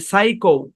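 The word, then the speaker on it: psycho: পি এস ওয়াই আচ্ছা এই শব্দের উচ্চারণ কি একটু বাম দিক থেকে টেনে লিখি আমরা তাহলে জায়গা হবে এ শব্দের উচ্চারণ কি সাই কৌ কি উচ্চারণ সাইকো এ বরাবর ভাগ হবে প্রথম অংশের উচ্চারণ সাই পি টা সাইলেন্ট সাই এই অংশের উচ্চারণ কৌ সাই কৌ এখানে সি এইচ এর উচ্চারণ ক এর মত হবে কারণ কি বলেন তো কারণ এটা গ্রিক অরজিন মানে এটা গ্রিক অরজিন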